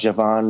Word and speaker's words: Djavan: makes me feel better djavan I think it's pronounced Javan makes me feel better